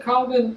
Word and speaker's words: Calvin: And Calvin, or well, more correctly, we pronounce it Calvin, right? It's more correctly Calvin. It's a French name, and he lived in Geneva.